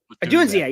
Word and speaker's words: Odunze: Odunze, yes.